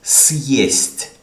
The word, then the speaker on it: съесть: Just to give you an example, if you use this word without this letter, okay, listen to me, the pronunciation. This is съесть. Съесть. This is the another sign. We'll get to it in a few minutes. And this is сесть. Okay? Съесть, сесть. Right?